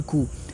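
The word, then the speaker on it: coup: अब देखो, ये वर्ड अच्छा है, मिलिट्री कू। अभी आप बोलोगे कूप लिखा हुआ है, आप कू बोल रहे हो, देखो इसमें पी साइलेंट होता है।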